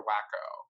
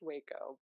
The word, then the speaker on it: Waco: excellent day in week is it pronounced Waco or wacker well it is pronounced Waco Waco Texas I'm like its Wacka it's Waco but yeah be here